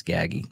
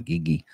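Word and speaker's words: Gaggi: a little gaggy gaggy it's gaggy not giggy gaggy uh began develop crew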